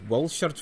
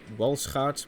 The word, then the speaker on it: Walschaerts: the County class included Walschaert valve gear. Shouldn't it be pronounced Walschaert, by the way? It was a Belgian invention.